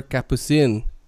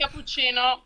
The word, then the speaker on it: Capucine: not to call her capucine before i say you know in italian no one knows how to say my name so everyone tells me capucino since i'm a child